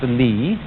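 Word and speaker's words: 理: Do you remember this word, which is pronounced Li, and which had as its original meaning the markings in jade, the fiber in muscle, or the grain in wood?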